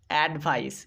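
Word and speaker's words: advice: সি ই ভাইস ভাইস অ্যাডভাইস এখানে কিন্তু সি এর উচ্চারণ হবে এখানে কিন্তু পাক্কা দন্তস এর উচ্চারণ করতে হবে কিন্তু পরেরটা দেখো এডি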